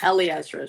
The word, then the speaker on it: Eliezra: Klein, Lucky Lawrenson, and Eliezra. Which, Ellie, I hope I pronounced your name right. Yeah, Ellie Ezra should be good.